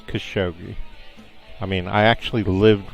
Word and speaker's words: Khashoggi: how Americans pretend like they know how to pronounce somebody's names sure an Arab might call them Jogi or whatever but in English it's Khashoggi I mean I actually lived with these people